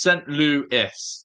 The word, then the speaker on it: St. Louis: It's pronounced St. Louis.